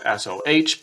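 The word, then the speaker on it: SOH: an acronym or a mnemonic device that spells S-O-H, pronounced so.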